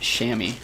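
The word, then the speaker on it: chamois: deal ah pink says I believe Chim Champions is pronounced shammy shammy yeah CH could be an S sound yeah that's probably right thank you hippie spinach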